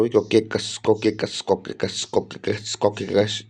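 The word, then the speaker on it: Caucasus: इतना इसकी प्रोनाउंसिएशन हो गई। कोकेकस कोकेकस कोकेकस कोकेकस कोकेकस।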